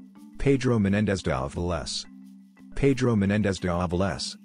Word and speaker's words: Pedro Menéndez de Avilés: Pedro menéndez valve less Pedro menéndez de avilés Spanish pronunciation February 15 1519 September